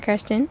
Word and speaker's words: Kirsten: this voice belongs to Christen is that actually how you say your name or is that adjusted to Australians no no no that is the intended pronunciation cuz I know there's